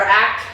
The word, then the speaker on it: ACT: therapy and a or act rather it doesn't actually you don't spell it out it's act or acceptance and commitment therapy